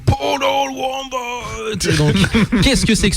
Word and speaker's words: Portal Wombat: On en parlait déjà il y a 2 semaines, à prononcer à la manière de Mortal Kombat. Donc Portal Wombat.